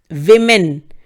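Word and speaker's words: women: आप क्या लगाते हैं, विमेन। प्रोनाउंसिएशन है वी मेन, ठीक है। सो प्लीज औरत के प्रोनाउंसिएशन पे फोकस करिए, क्योंकि वो हमारा मेजरली गलत हो जाता है।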